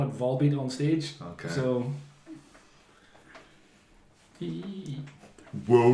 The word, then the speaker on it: Volbeat: B were they from their finish 100 bins pronounce the vase they call it vol beat on stage okay so we'll repeat and I